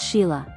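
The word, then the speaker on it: Sighle: They were Sigel, pronounced Sheila, Lancaster, Susan Lancaster, Joanna Lancaster, who became a film producer, James Lancaster, and Bill Lancaster, who became an actor and director.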